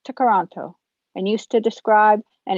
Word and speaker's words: Toronto: simcoe and lake kuchiting it's a mohawk word pronounced to karanto and used to describe